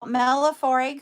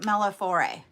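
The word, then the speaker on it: millefiori: And they are called, and I might be pronouncing it wrong, but I pronounce it Mellifore. It's an Italian word.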